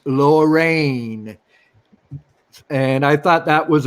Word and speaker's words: Lorreign: cool too and and the comic is spelled L o RR e IG n so it's lower rain and I thought that